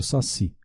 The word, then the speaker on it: saci: Exemplo é o saci. A última sílaba é tônica.